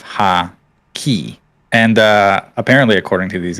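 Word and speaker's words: Haki: Broken, you mispronounced the word hockey, saying hakai instead of ha-ki.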